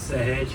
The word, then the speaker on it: Sahej: you to pronounce it, you know how living fence is pronounced, hedge? So you just add S in front of that and then it becomes one name.